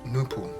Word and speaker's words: Nupu: The mental powers of this presentation are the mental powers of absolute nature called Nupu, pronounced Nu-Pu.